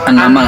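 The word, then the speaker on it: An-Naml: Surat Annamal. Anamalam. Anamal itu bacanya surat baca apa?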